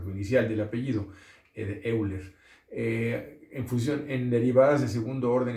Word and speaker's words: Euler: El señor Leonhard Euler, creo que se pronuncia en alemán Euler, él era suizo, pero suizo-alemán, entonces Euler, pero bueno, aquí diremos Euler tal y como se escribe, ustedes lo han escuchado porque el número E de Euler, ¿verdad?